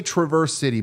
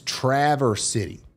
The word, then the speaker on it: Traverse City: City I know Traverse I say Traverse City because that makes sense right like Traverse that's how it's spelled but every time I say it everybody's like wow you sound like an idiot it's Traverse City Traverse City and like I promise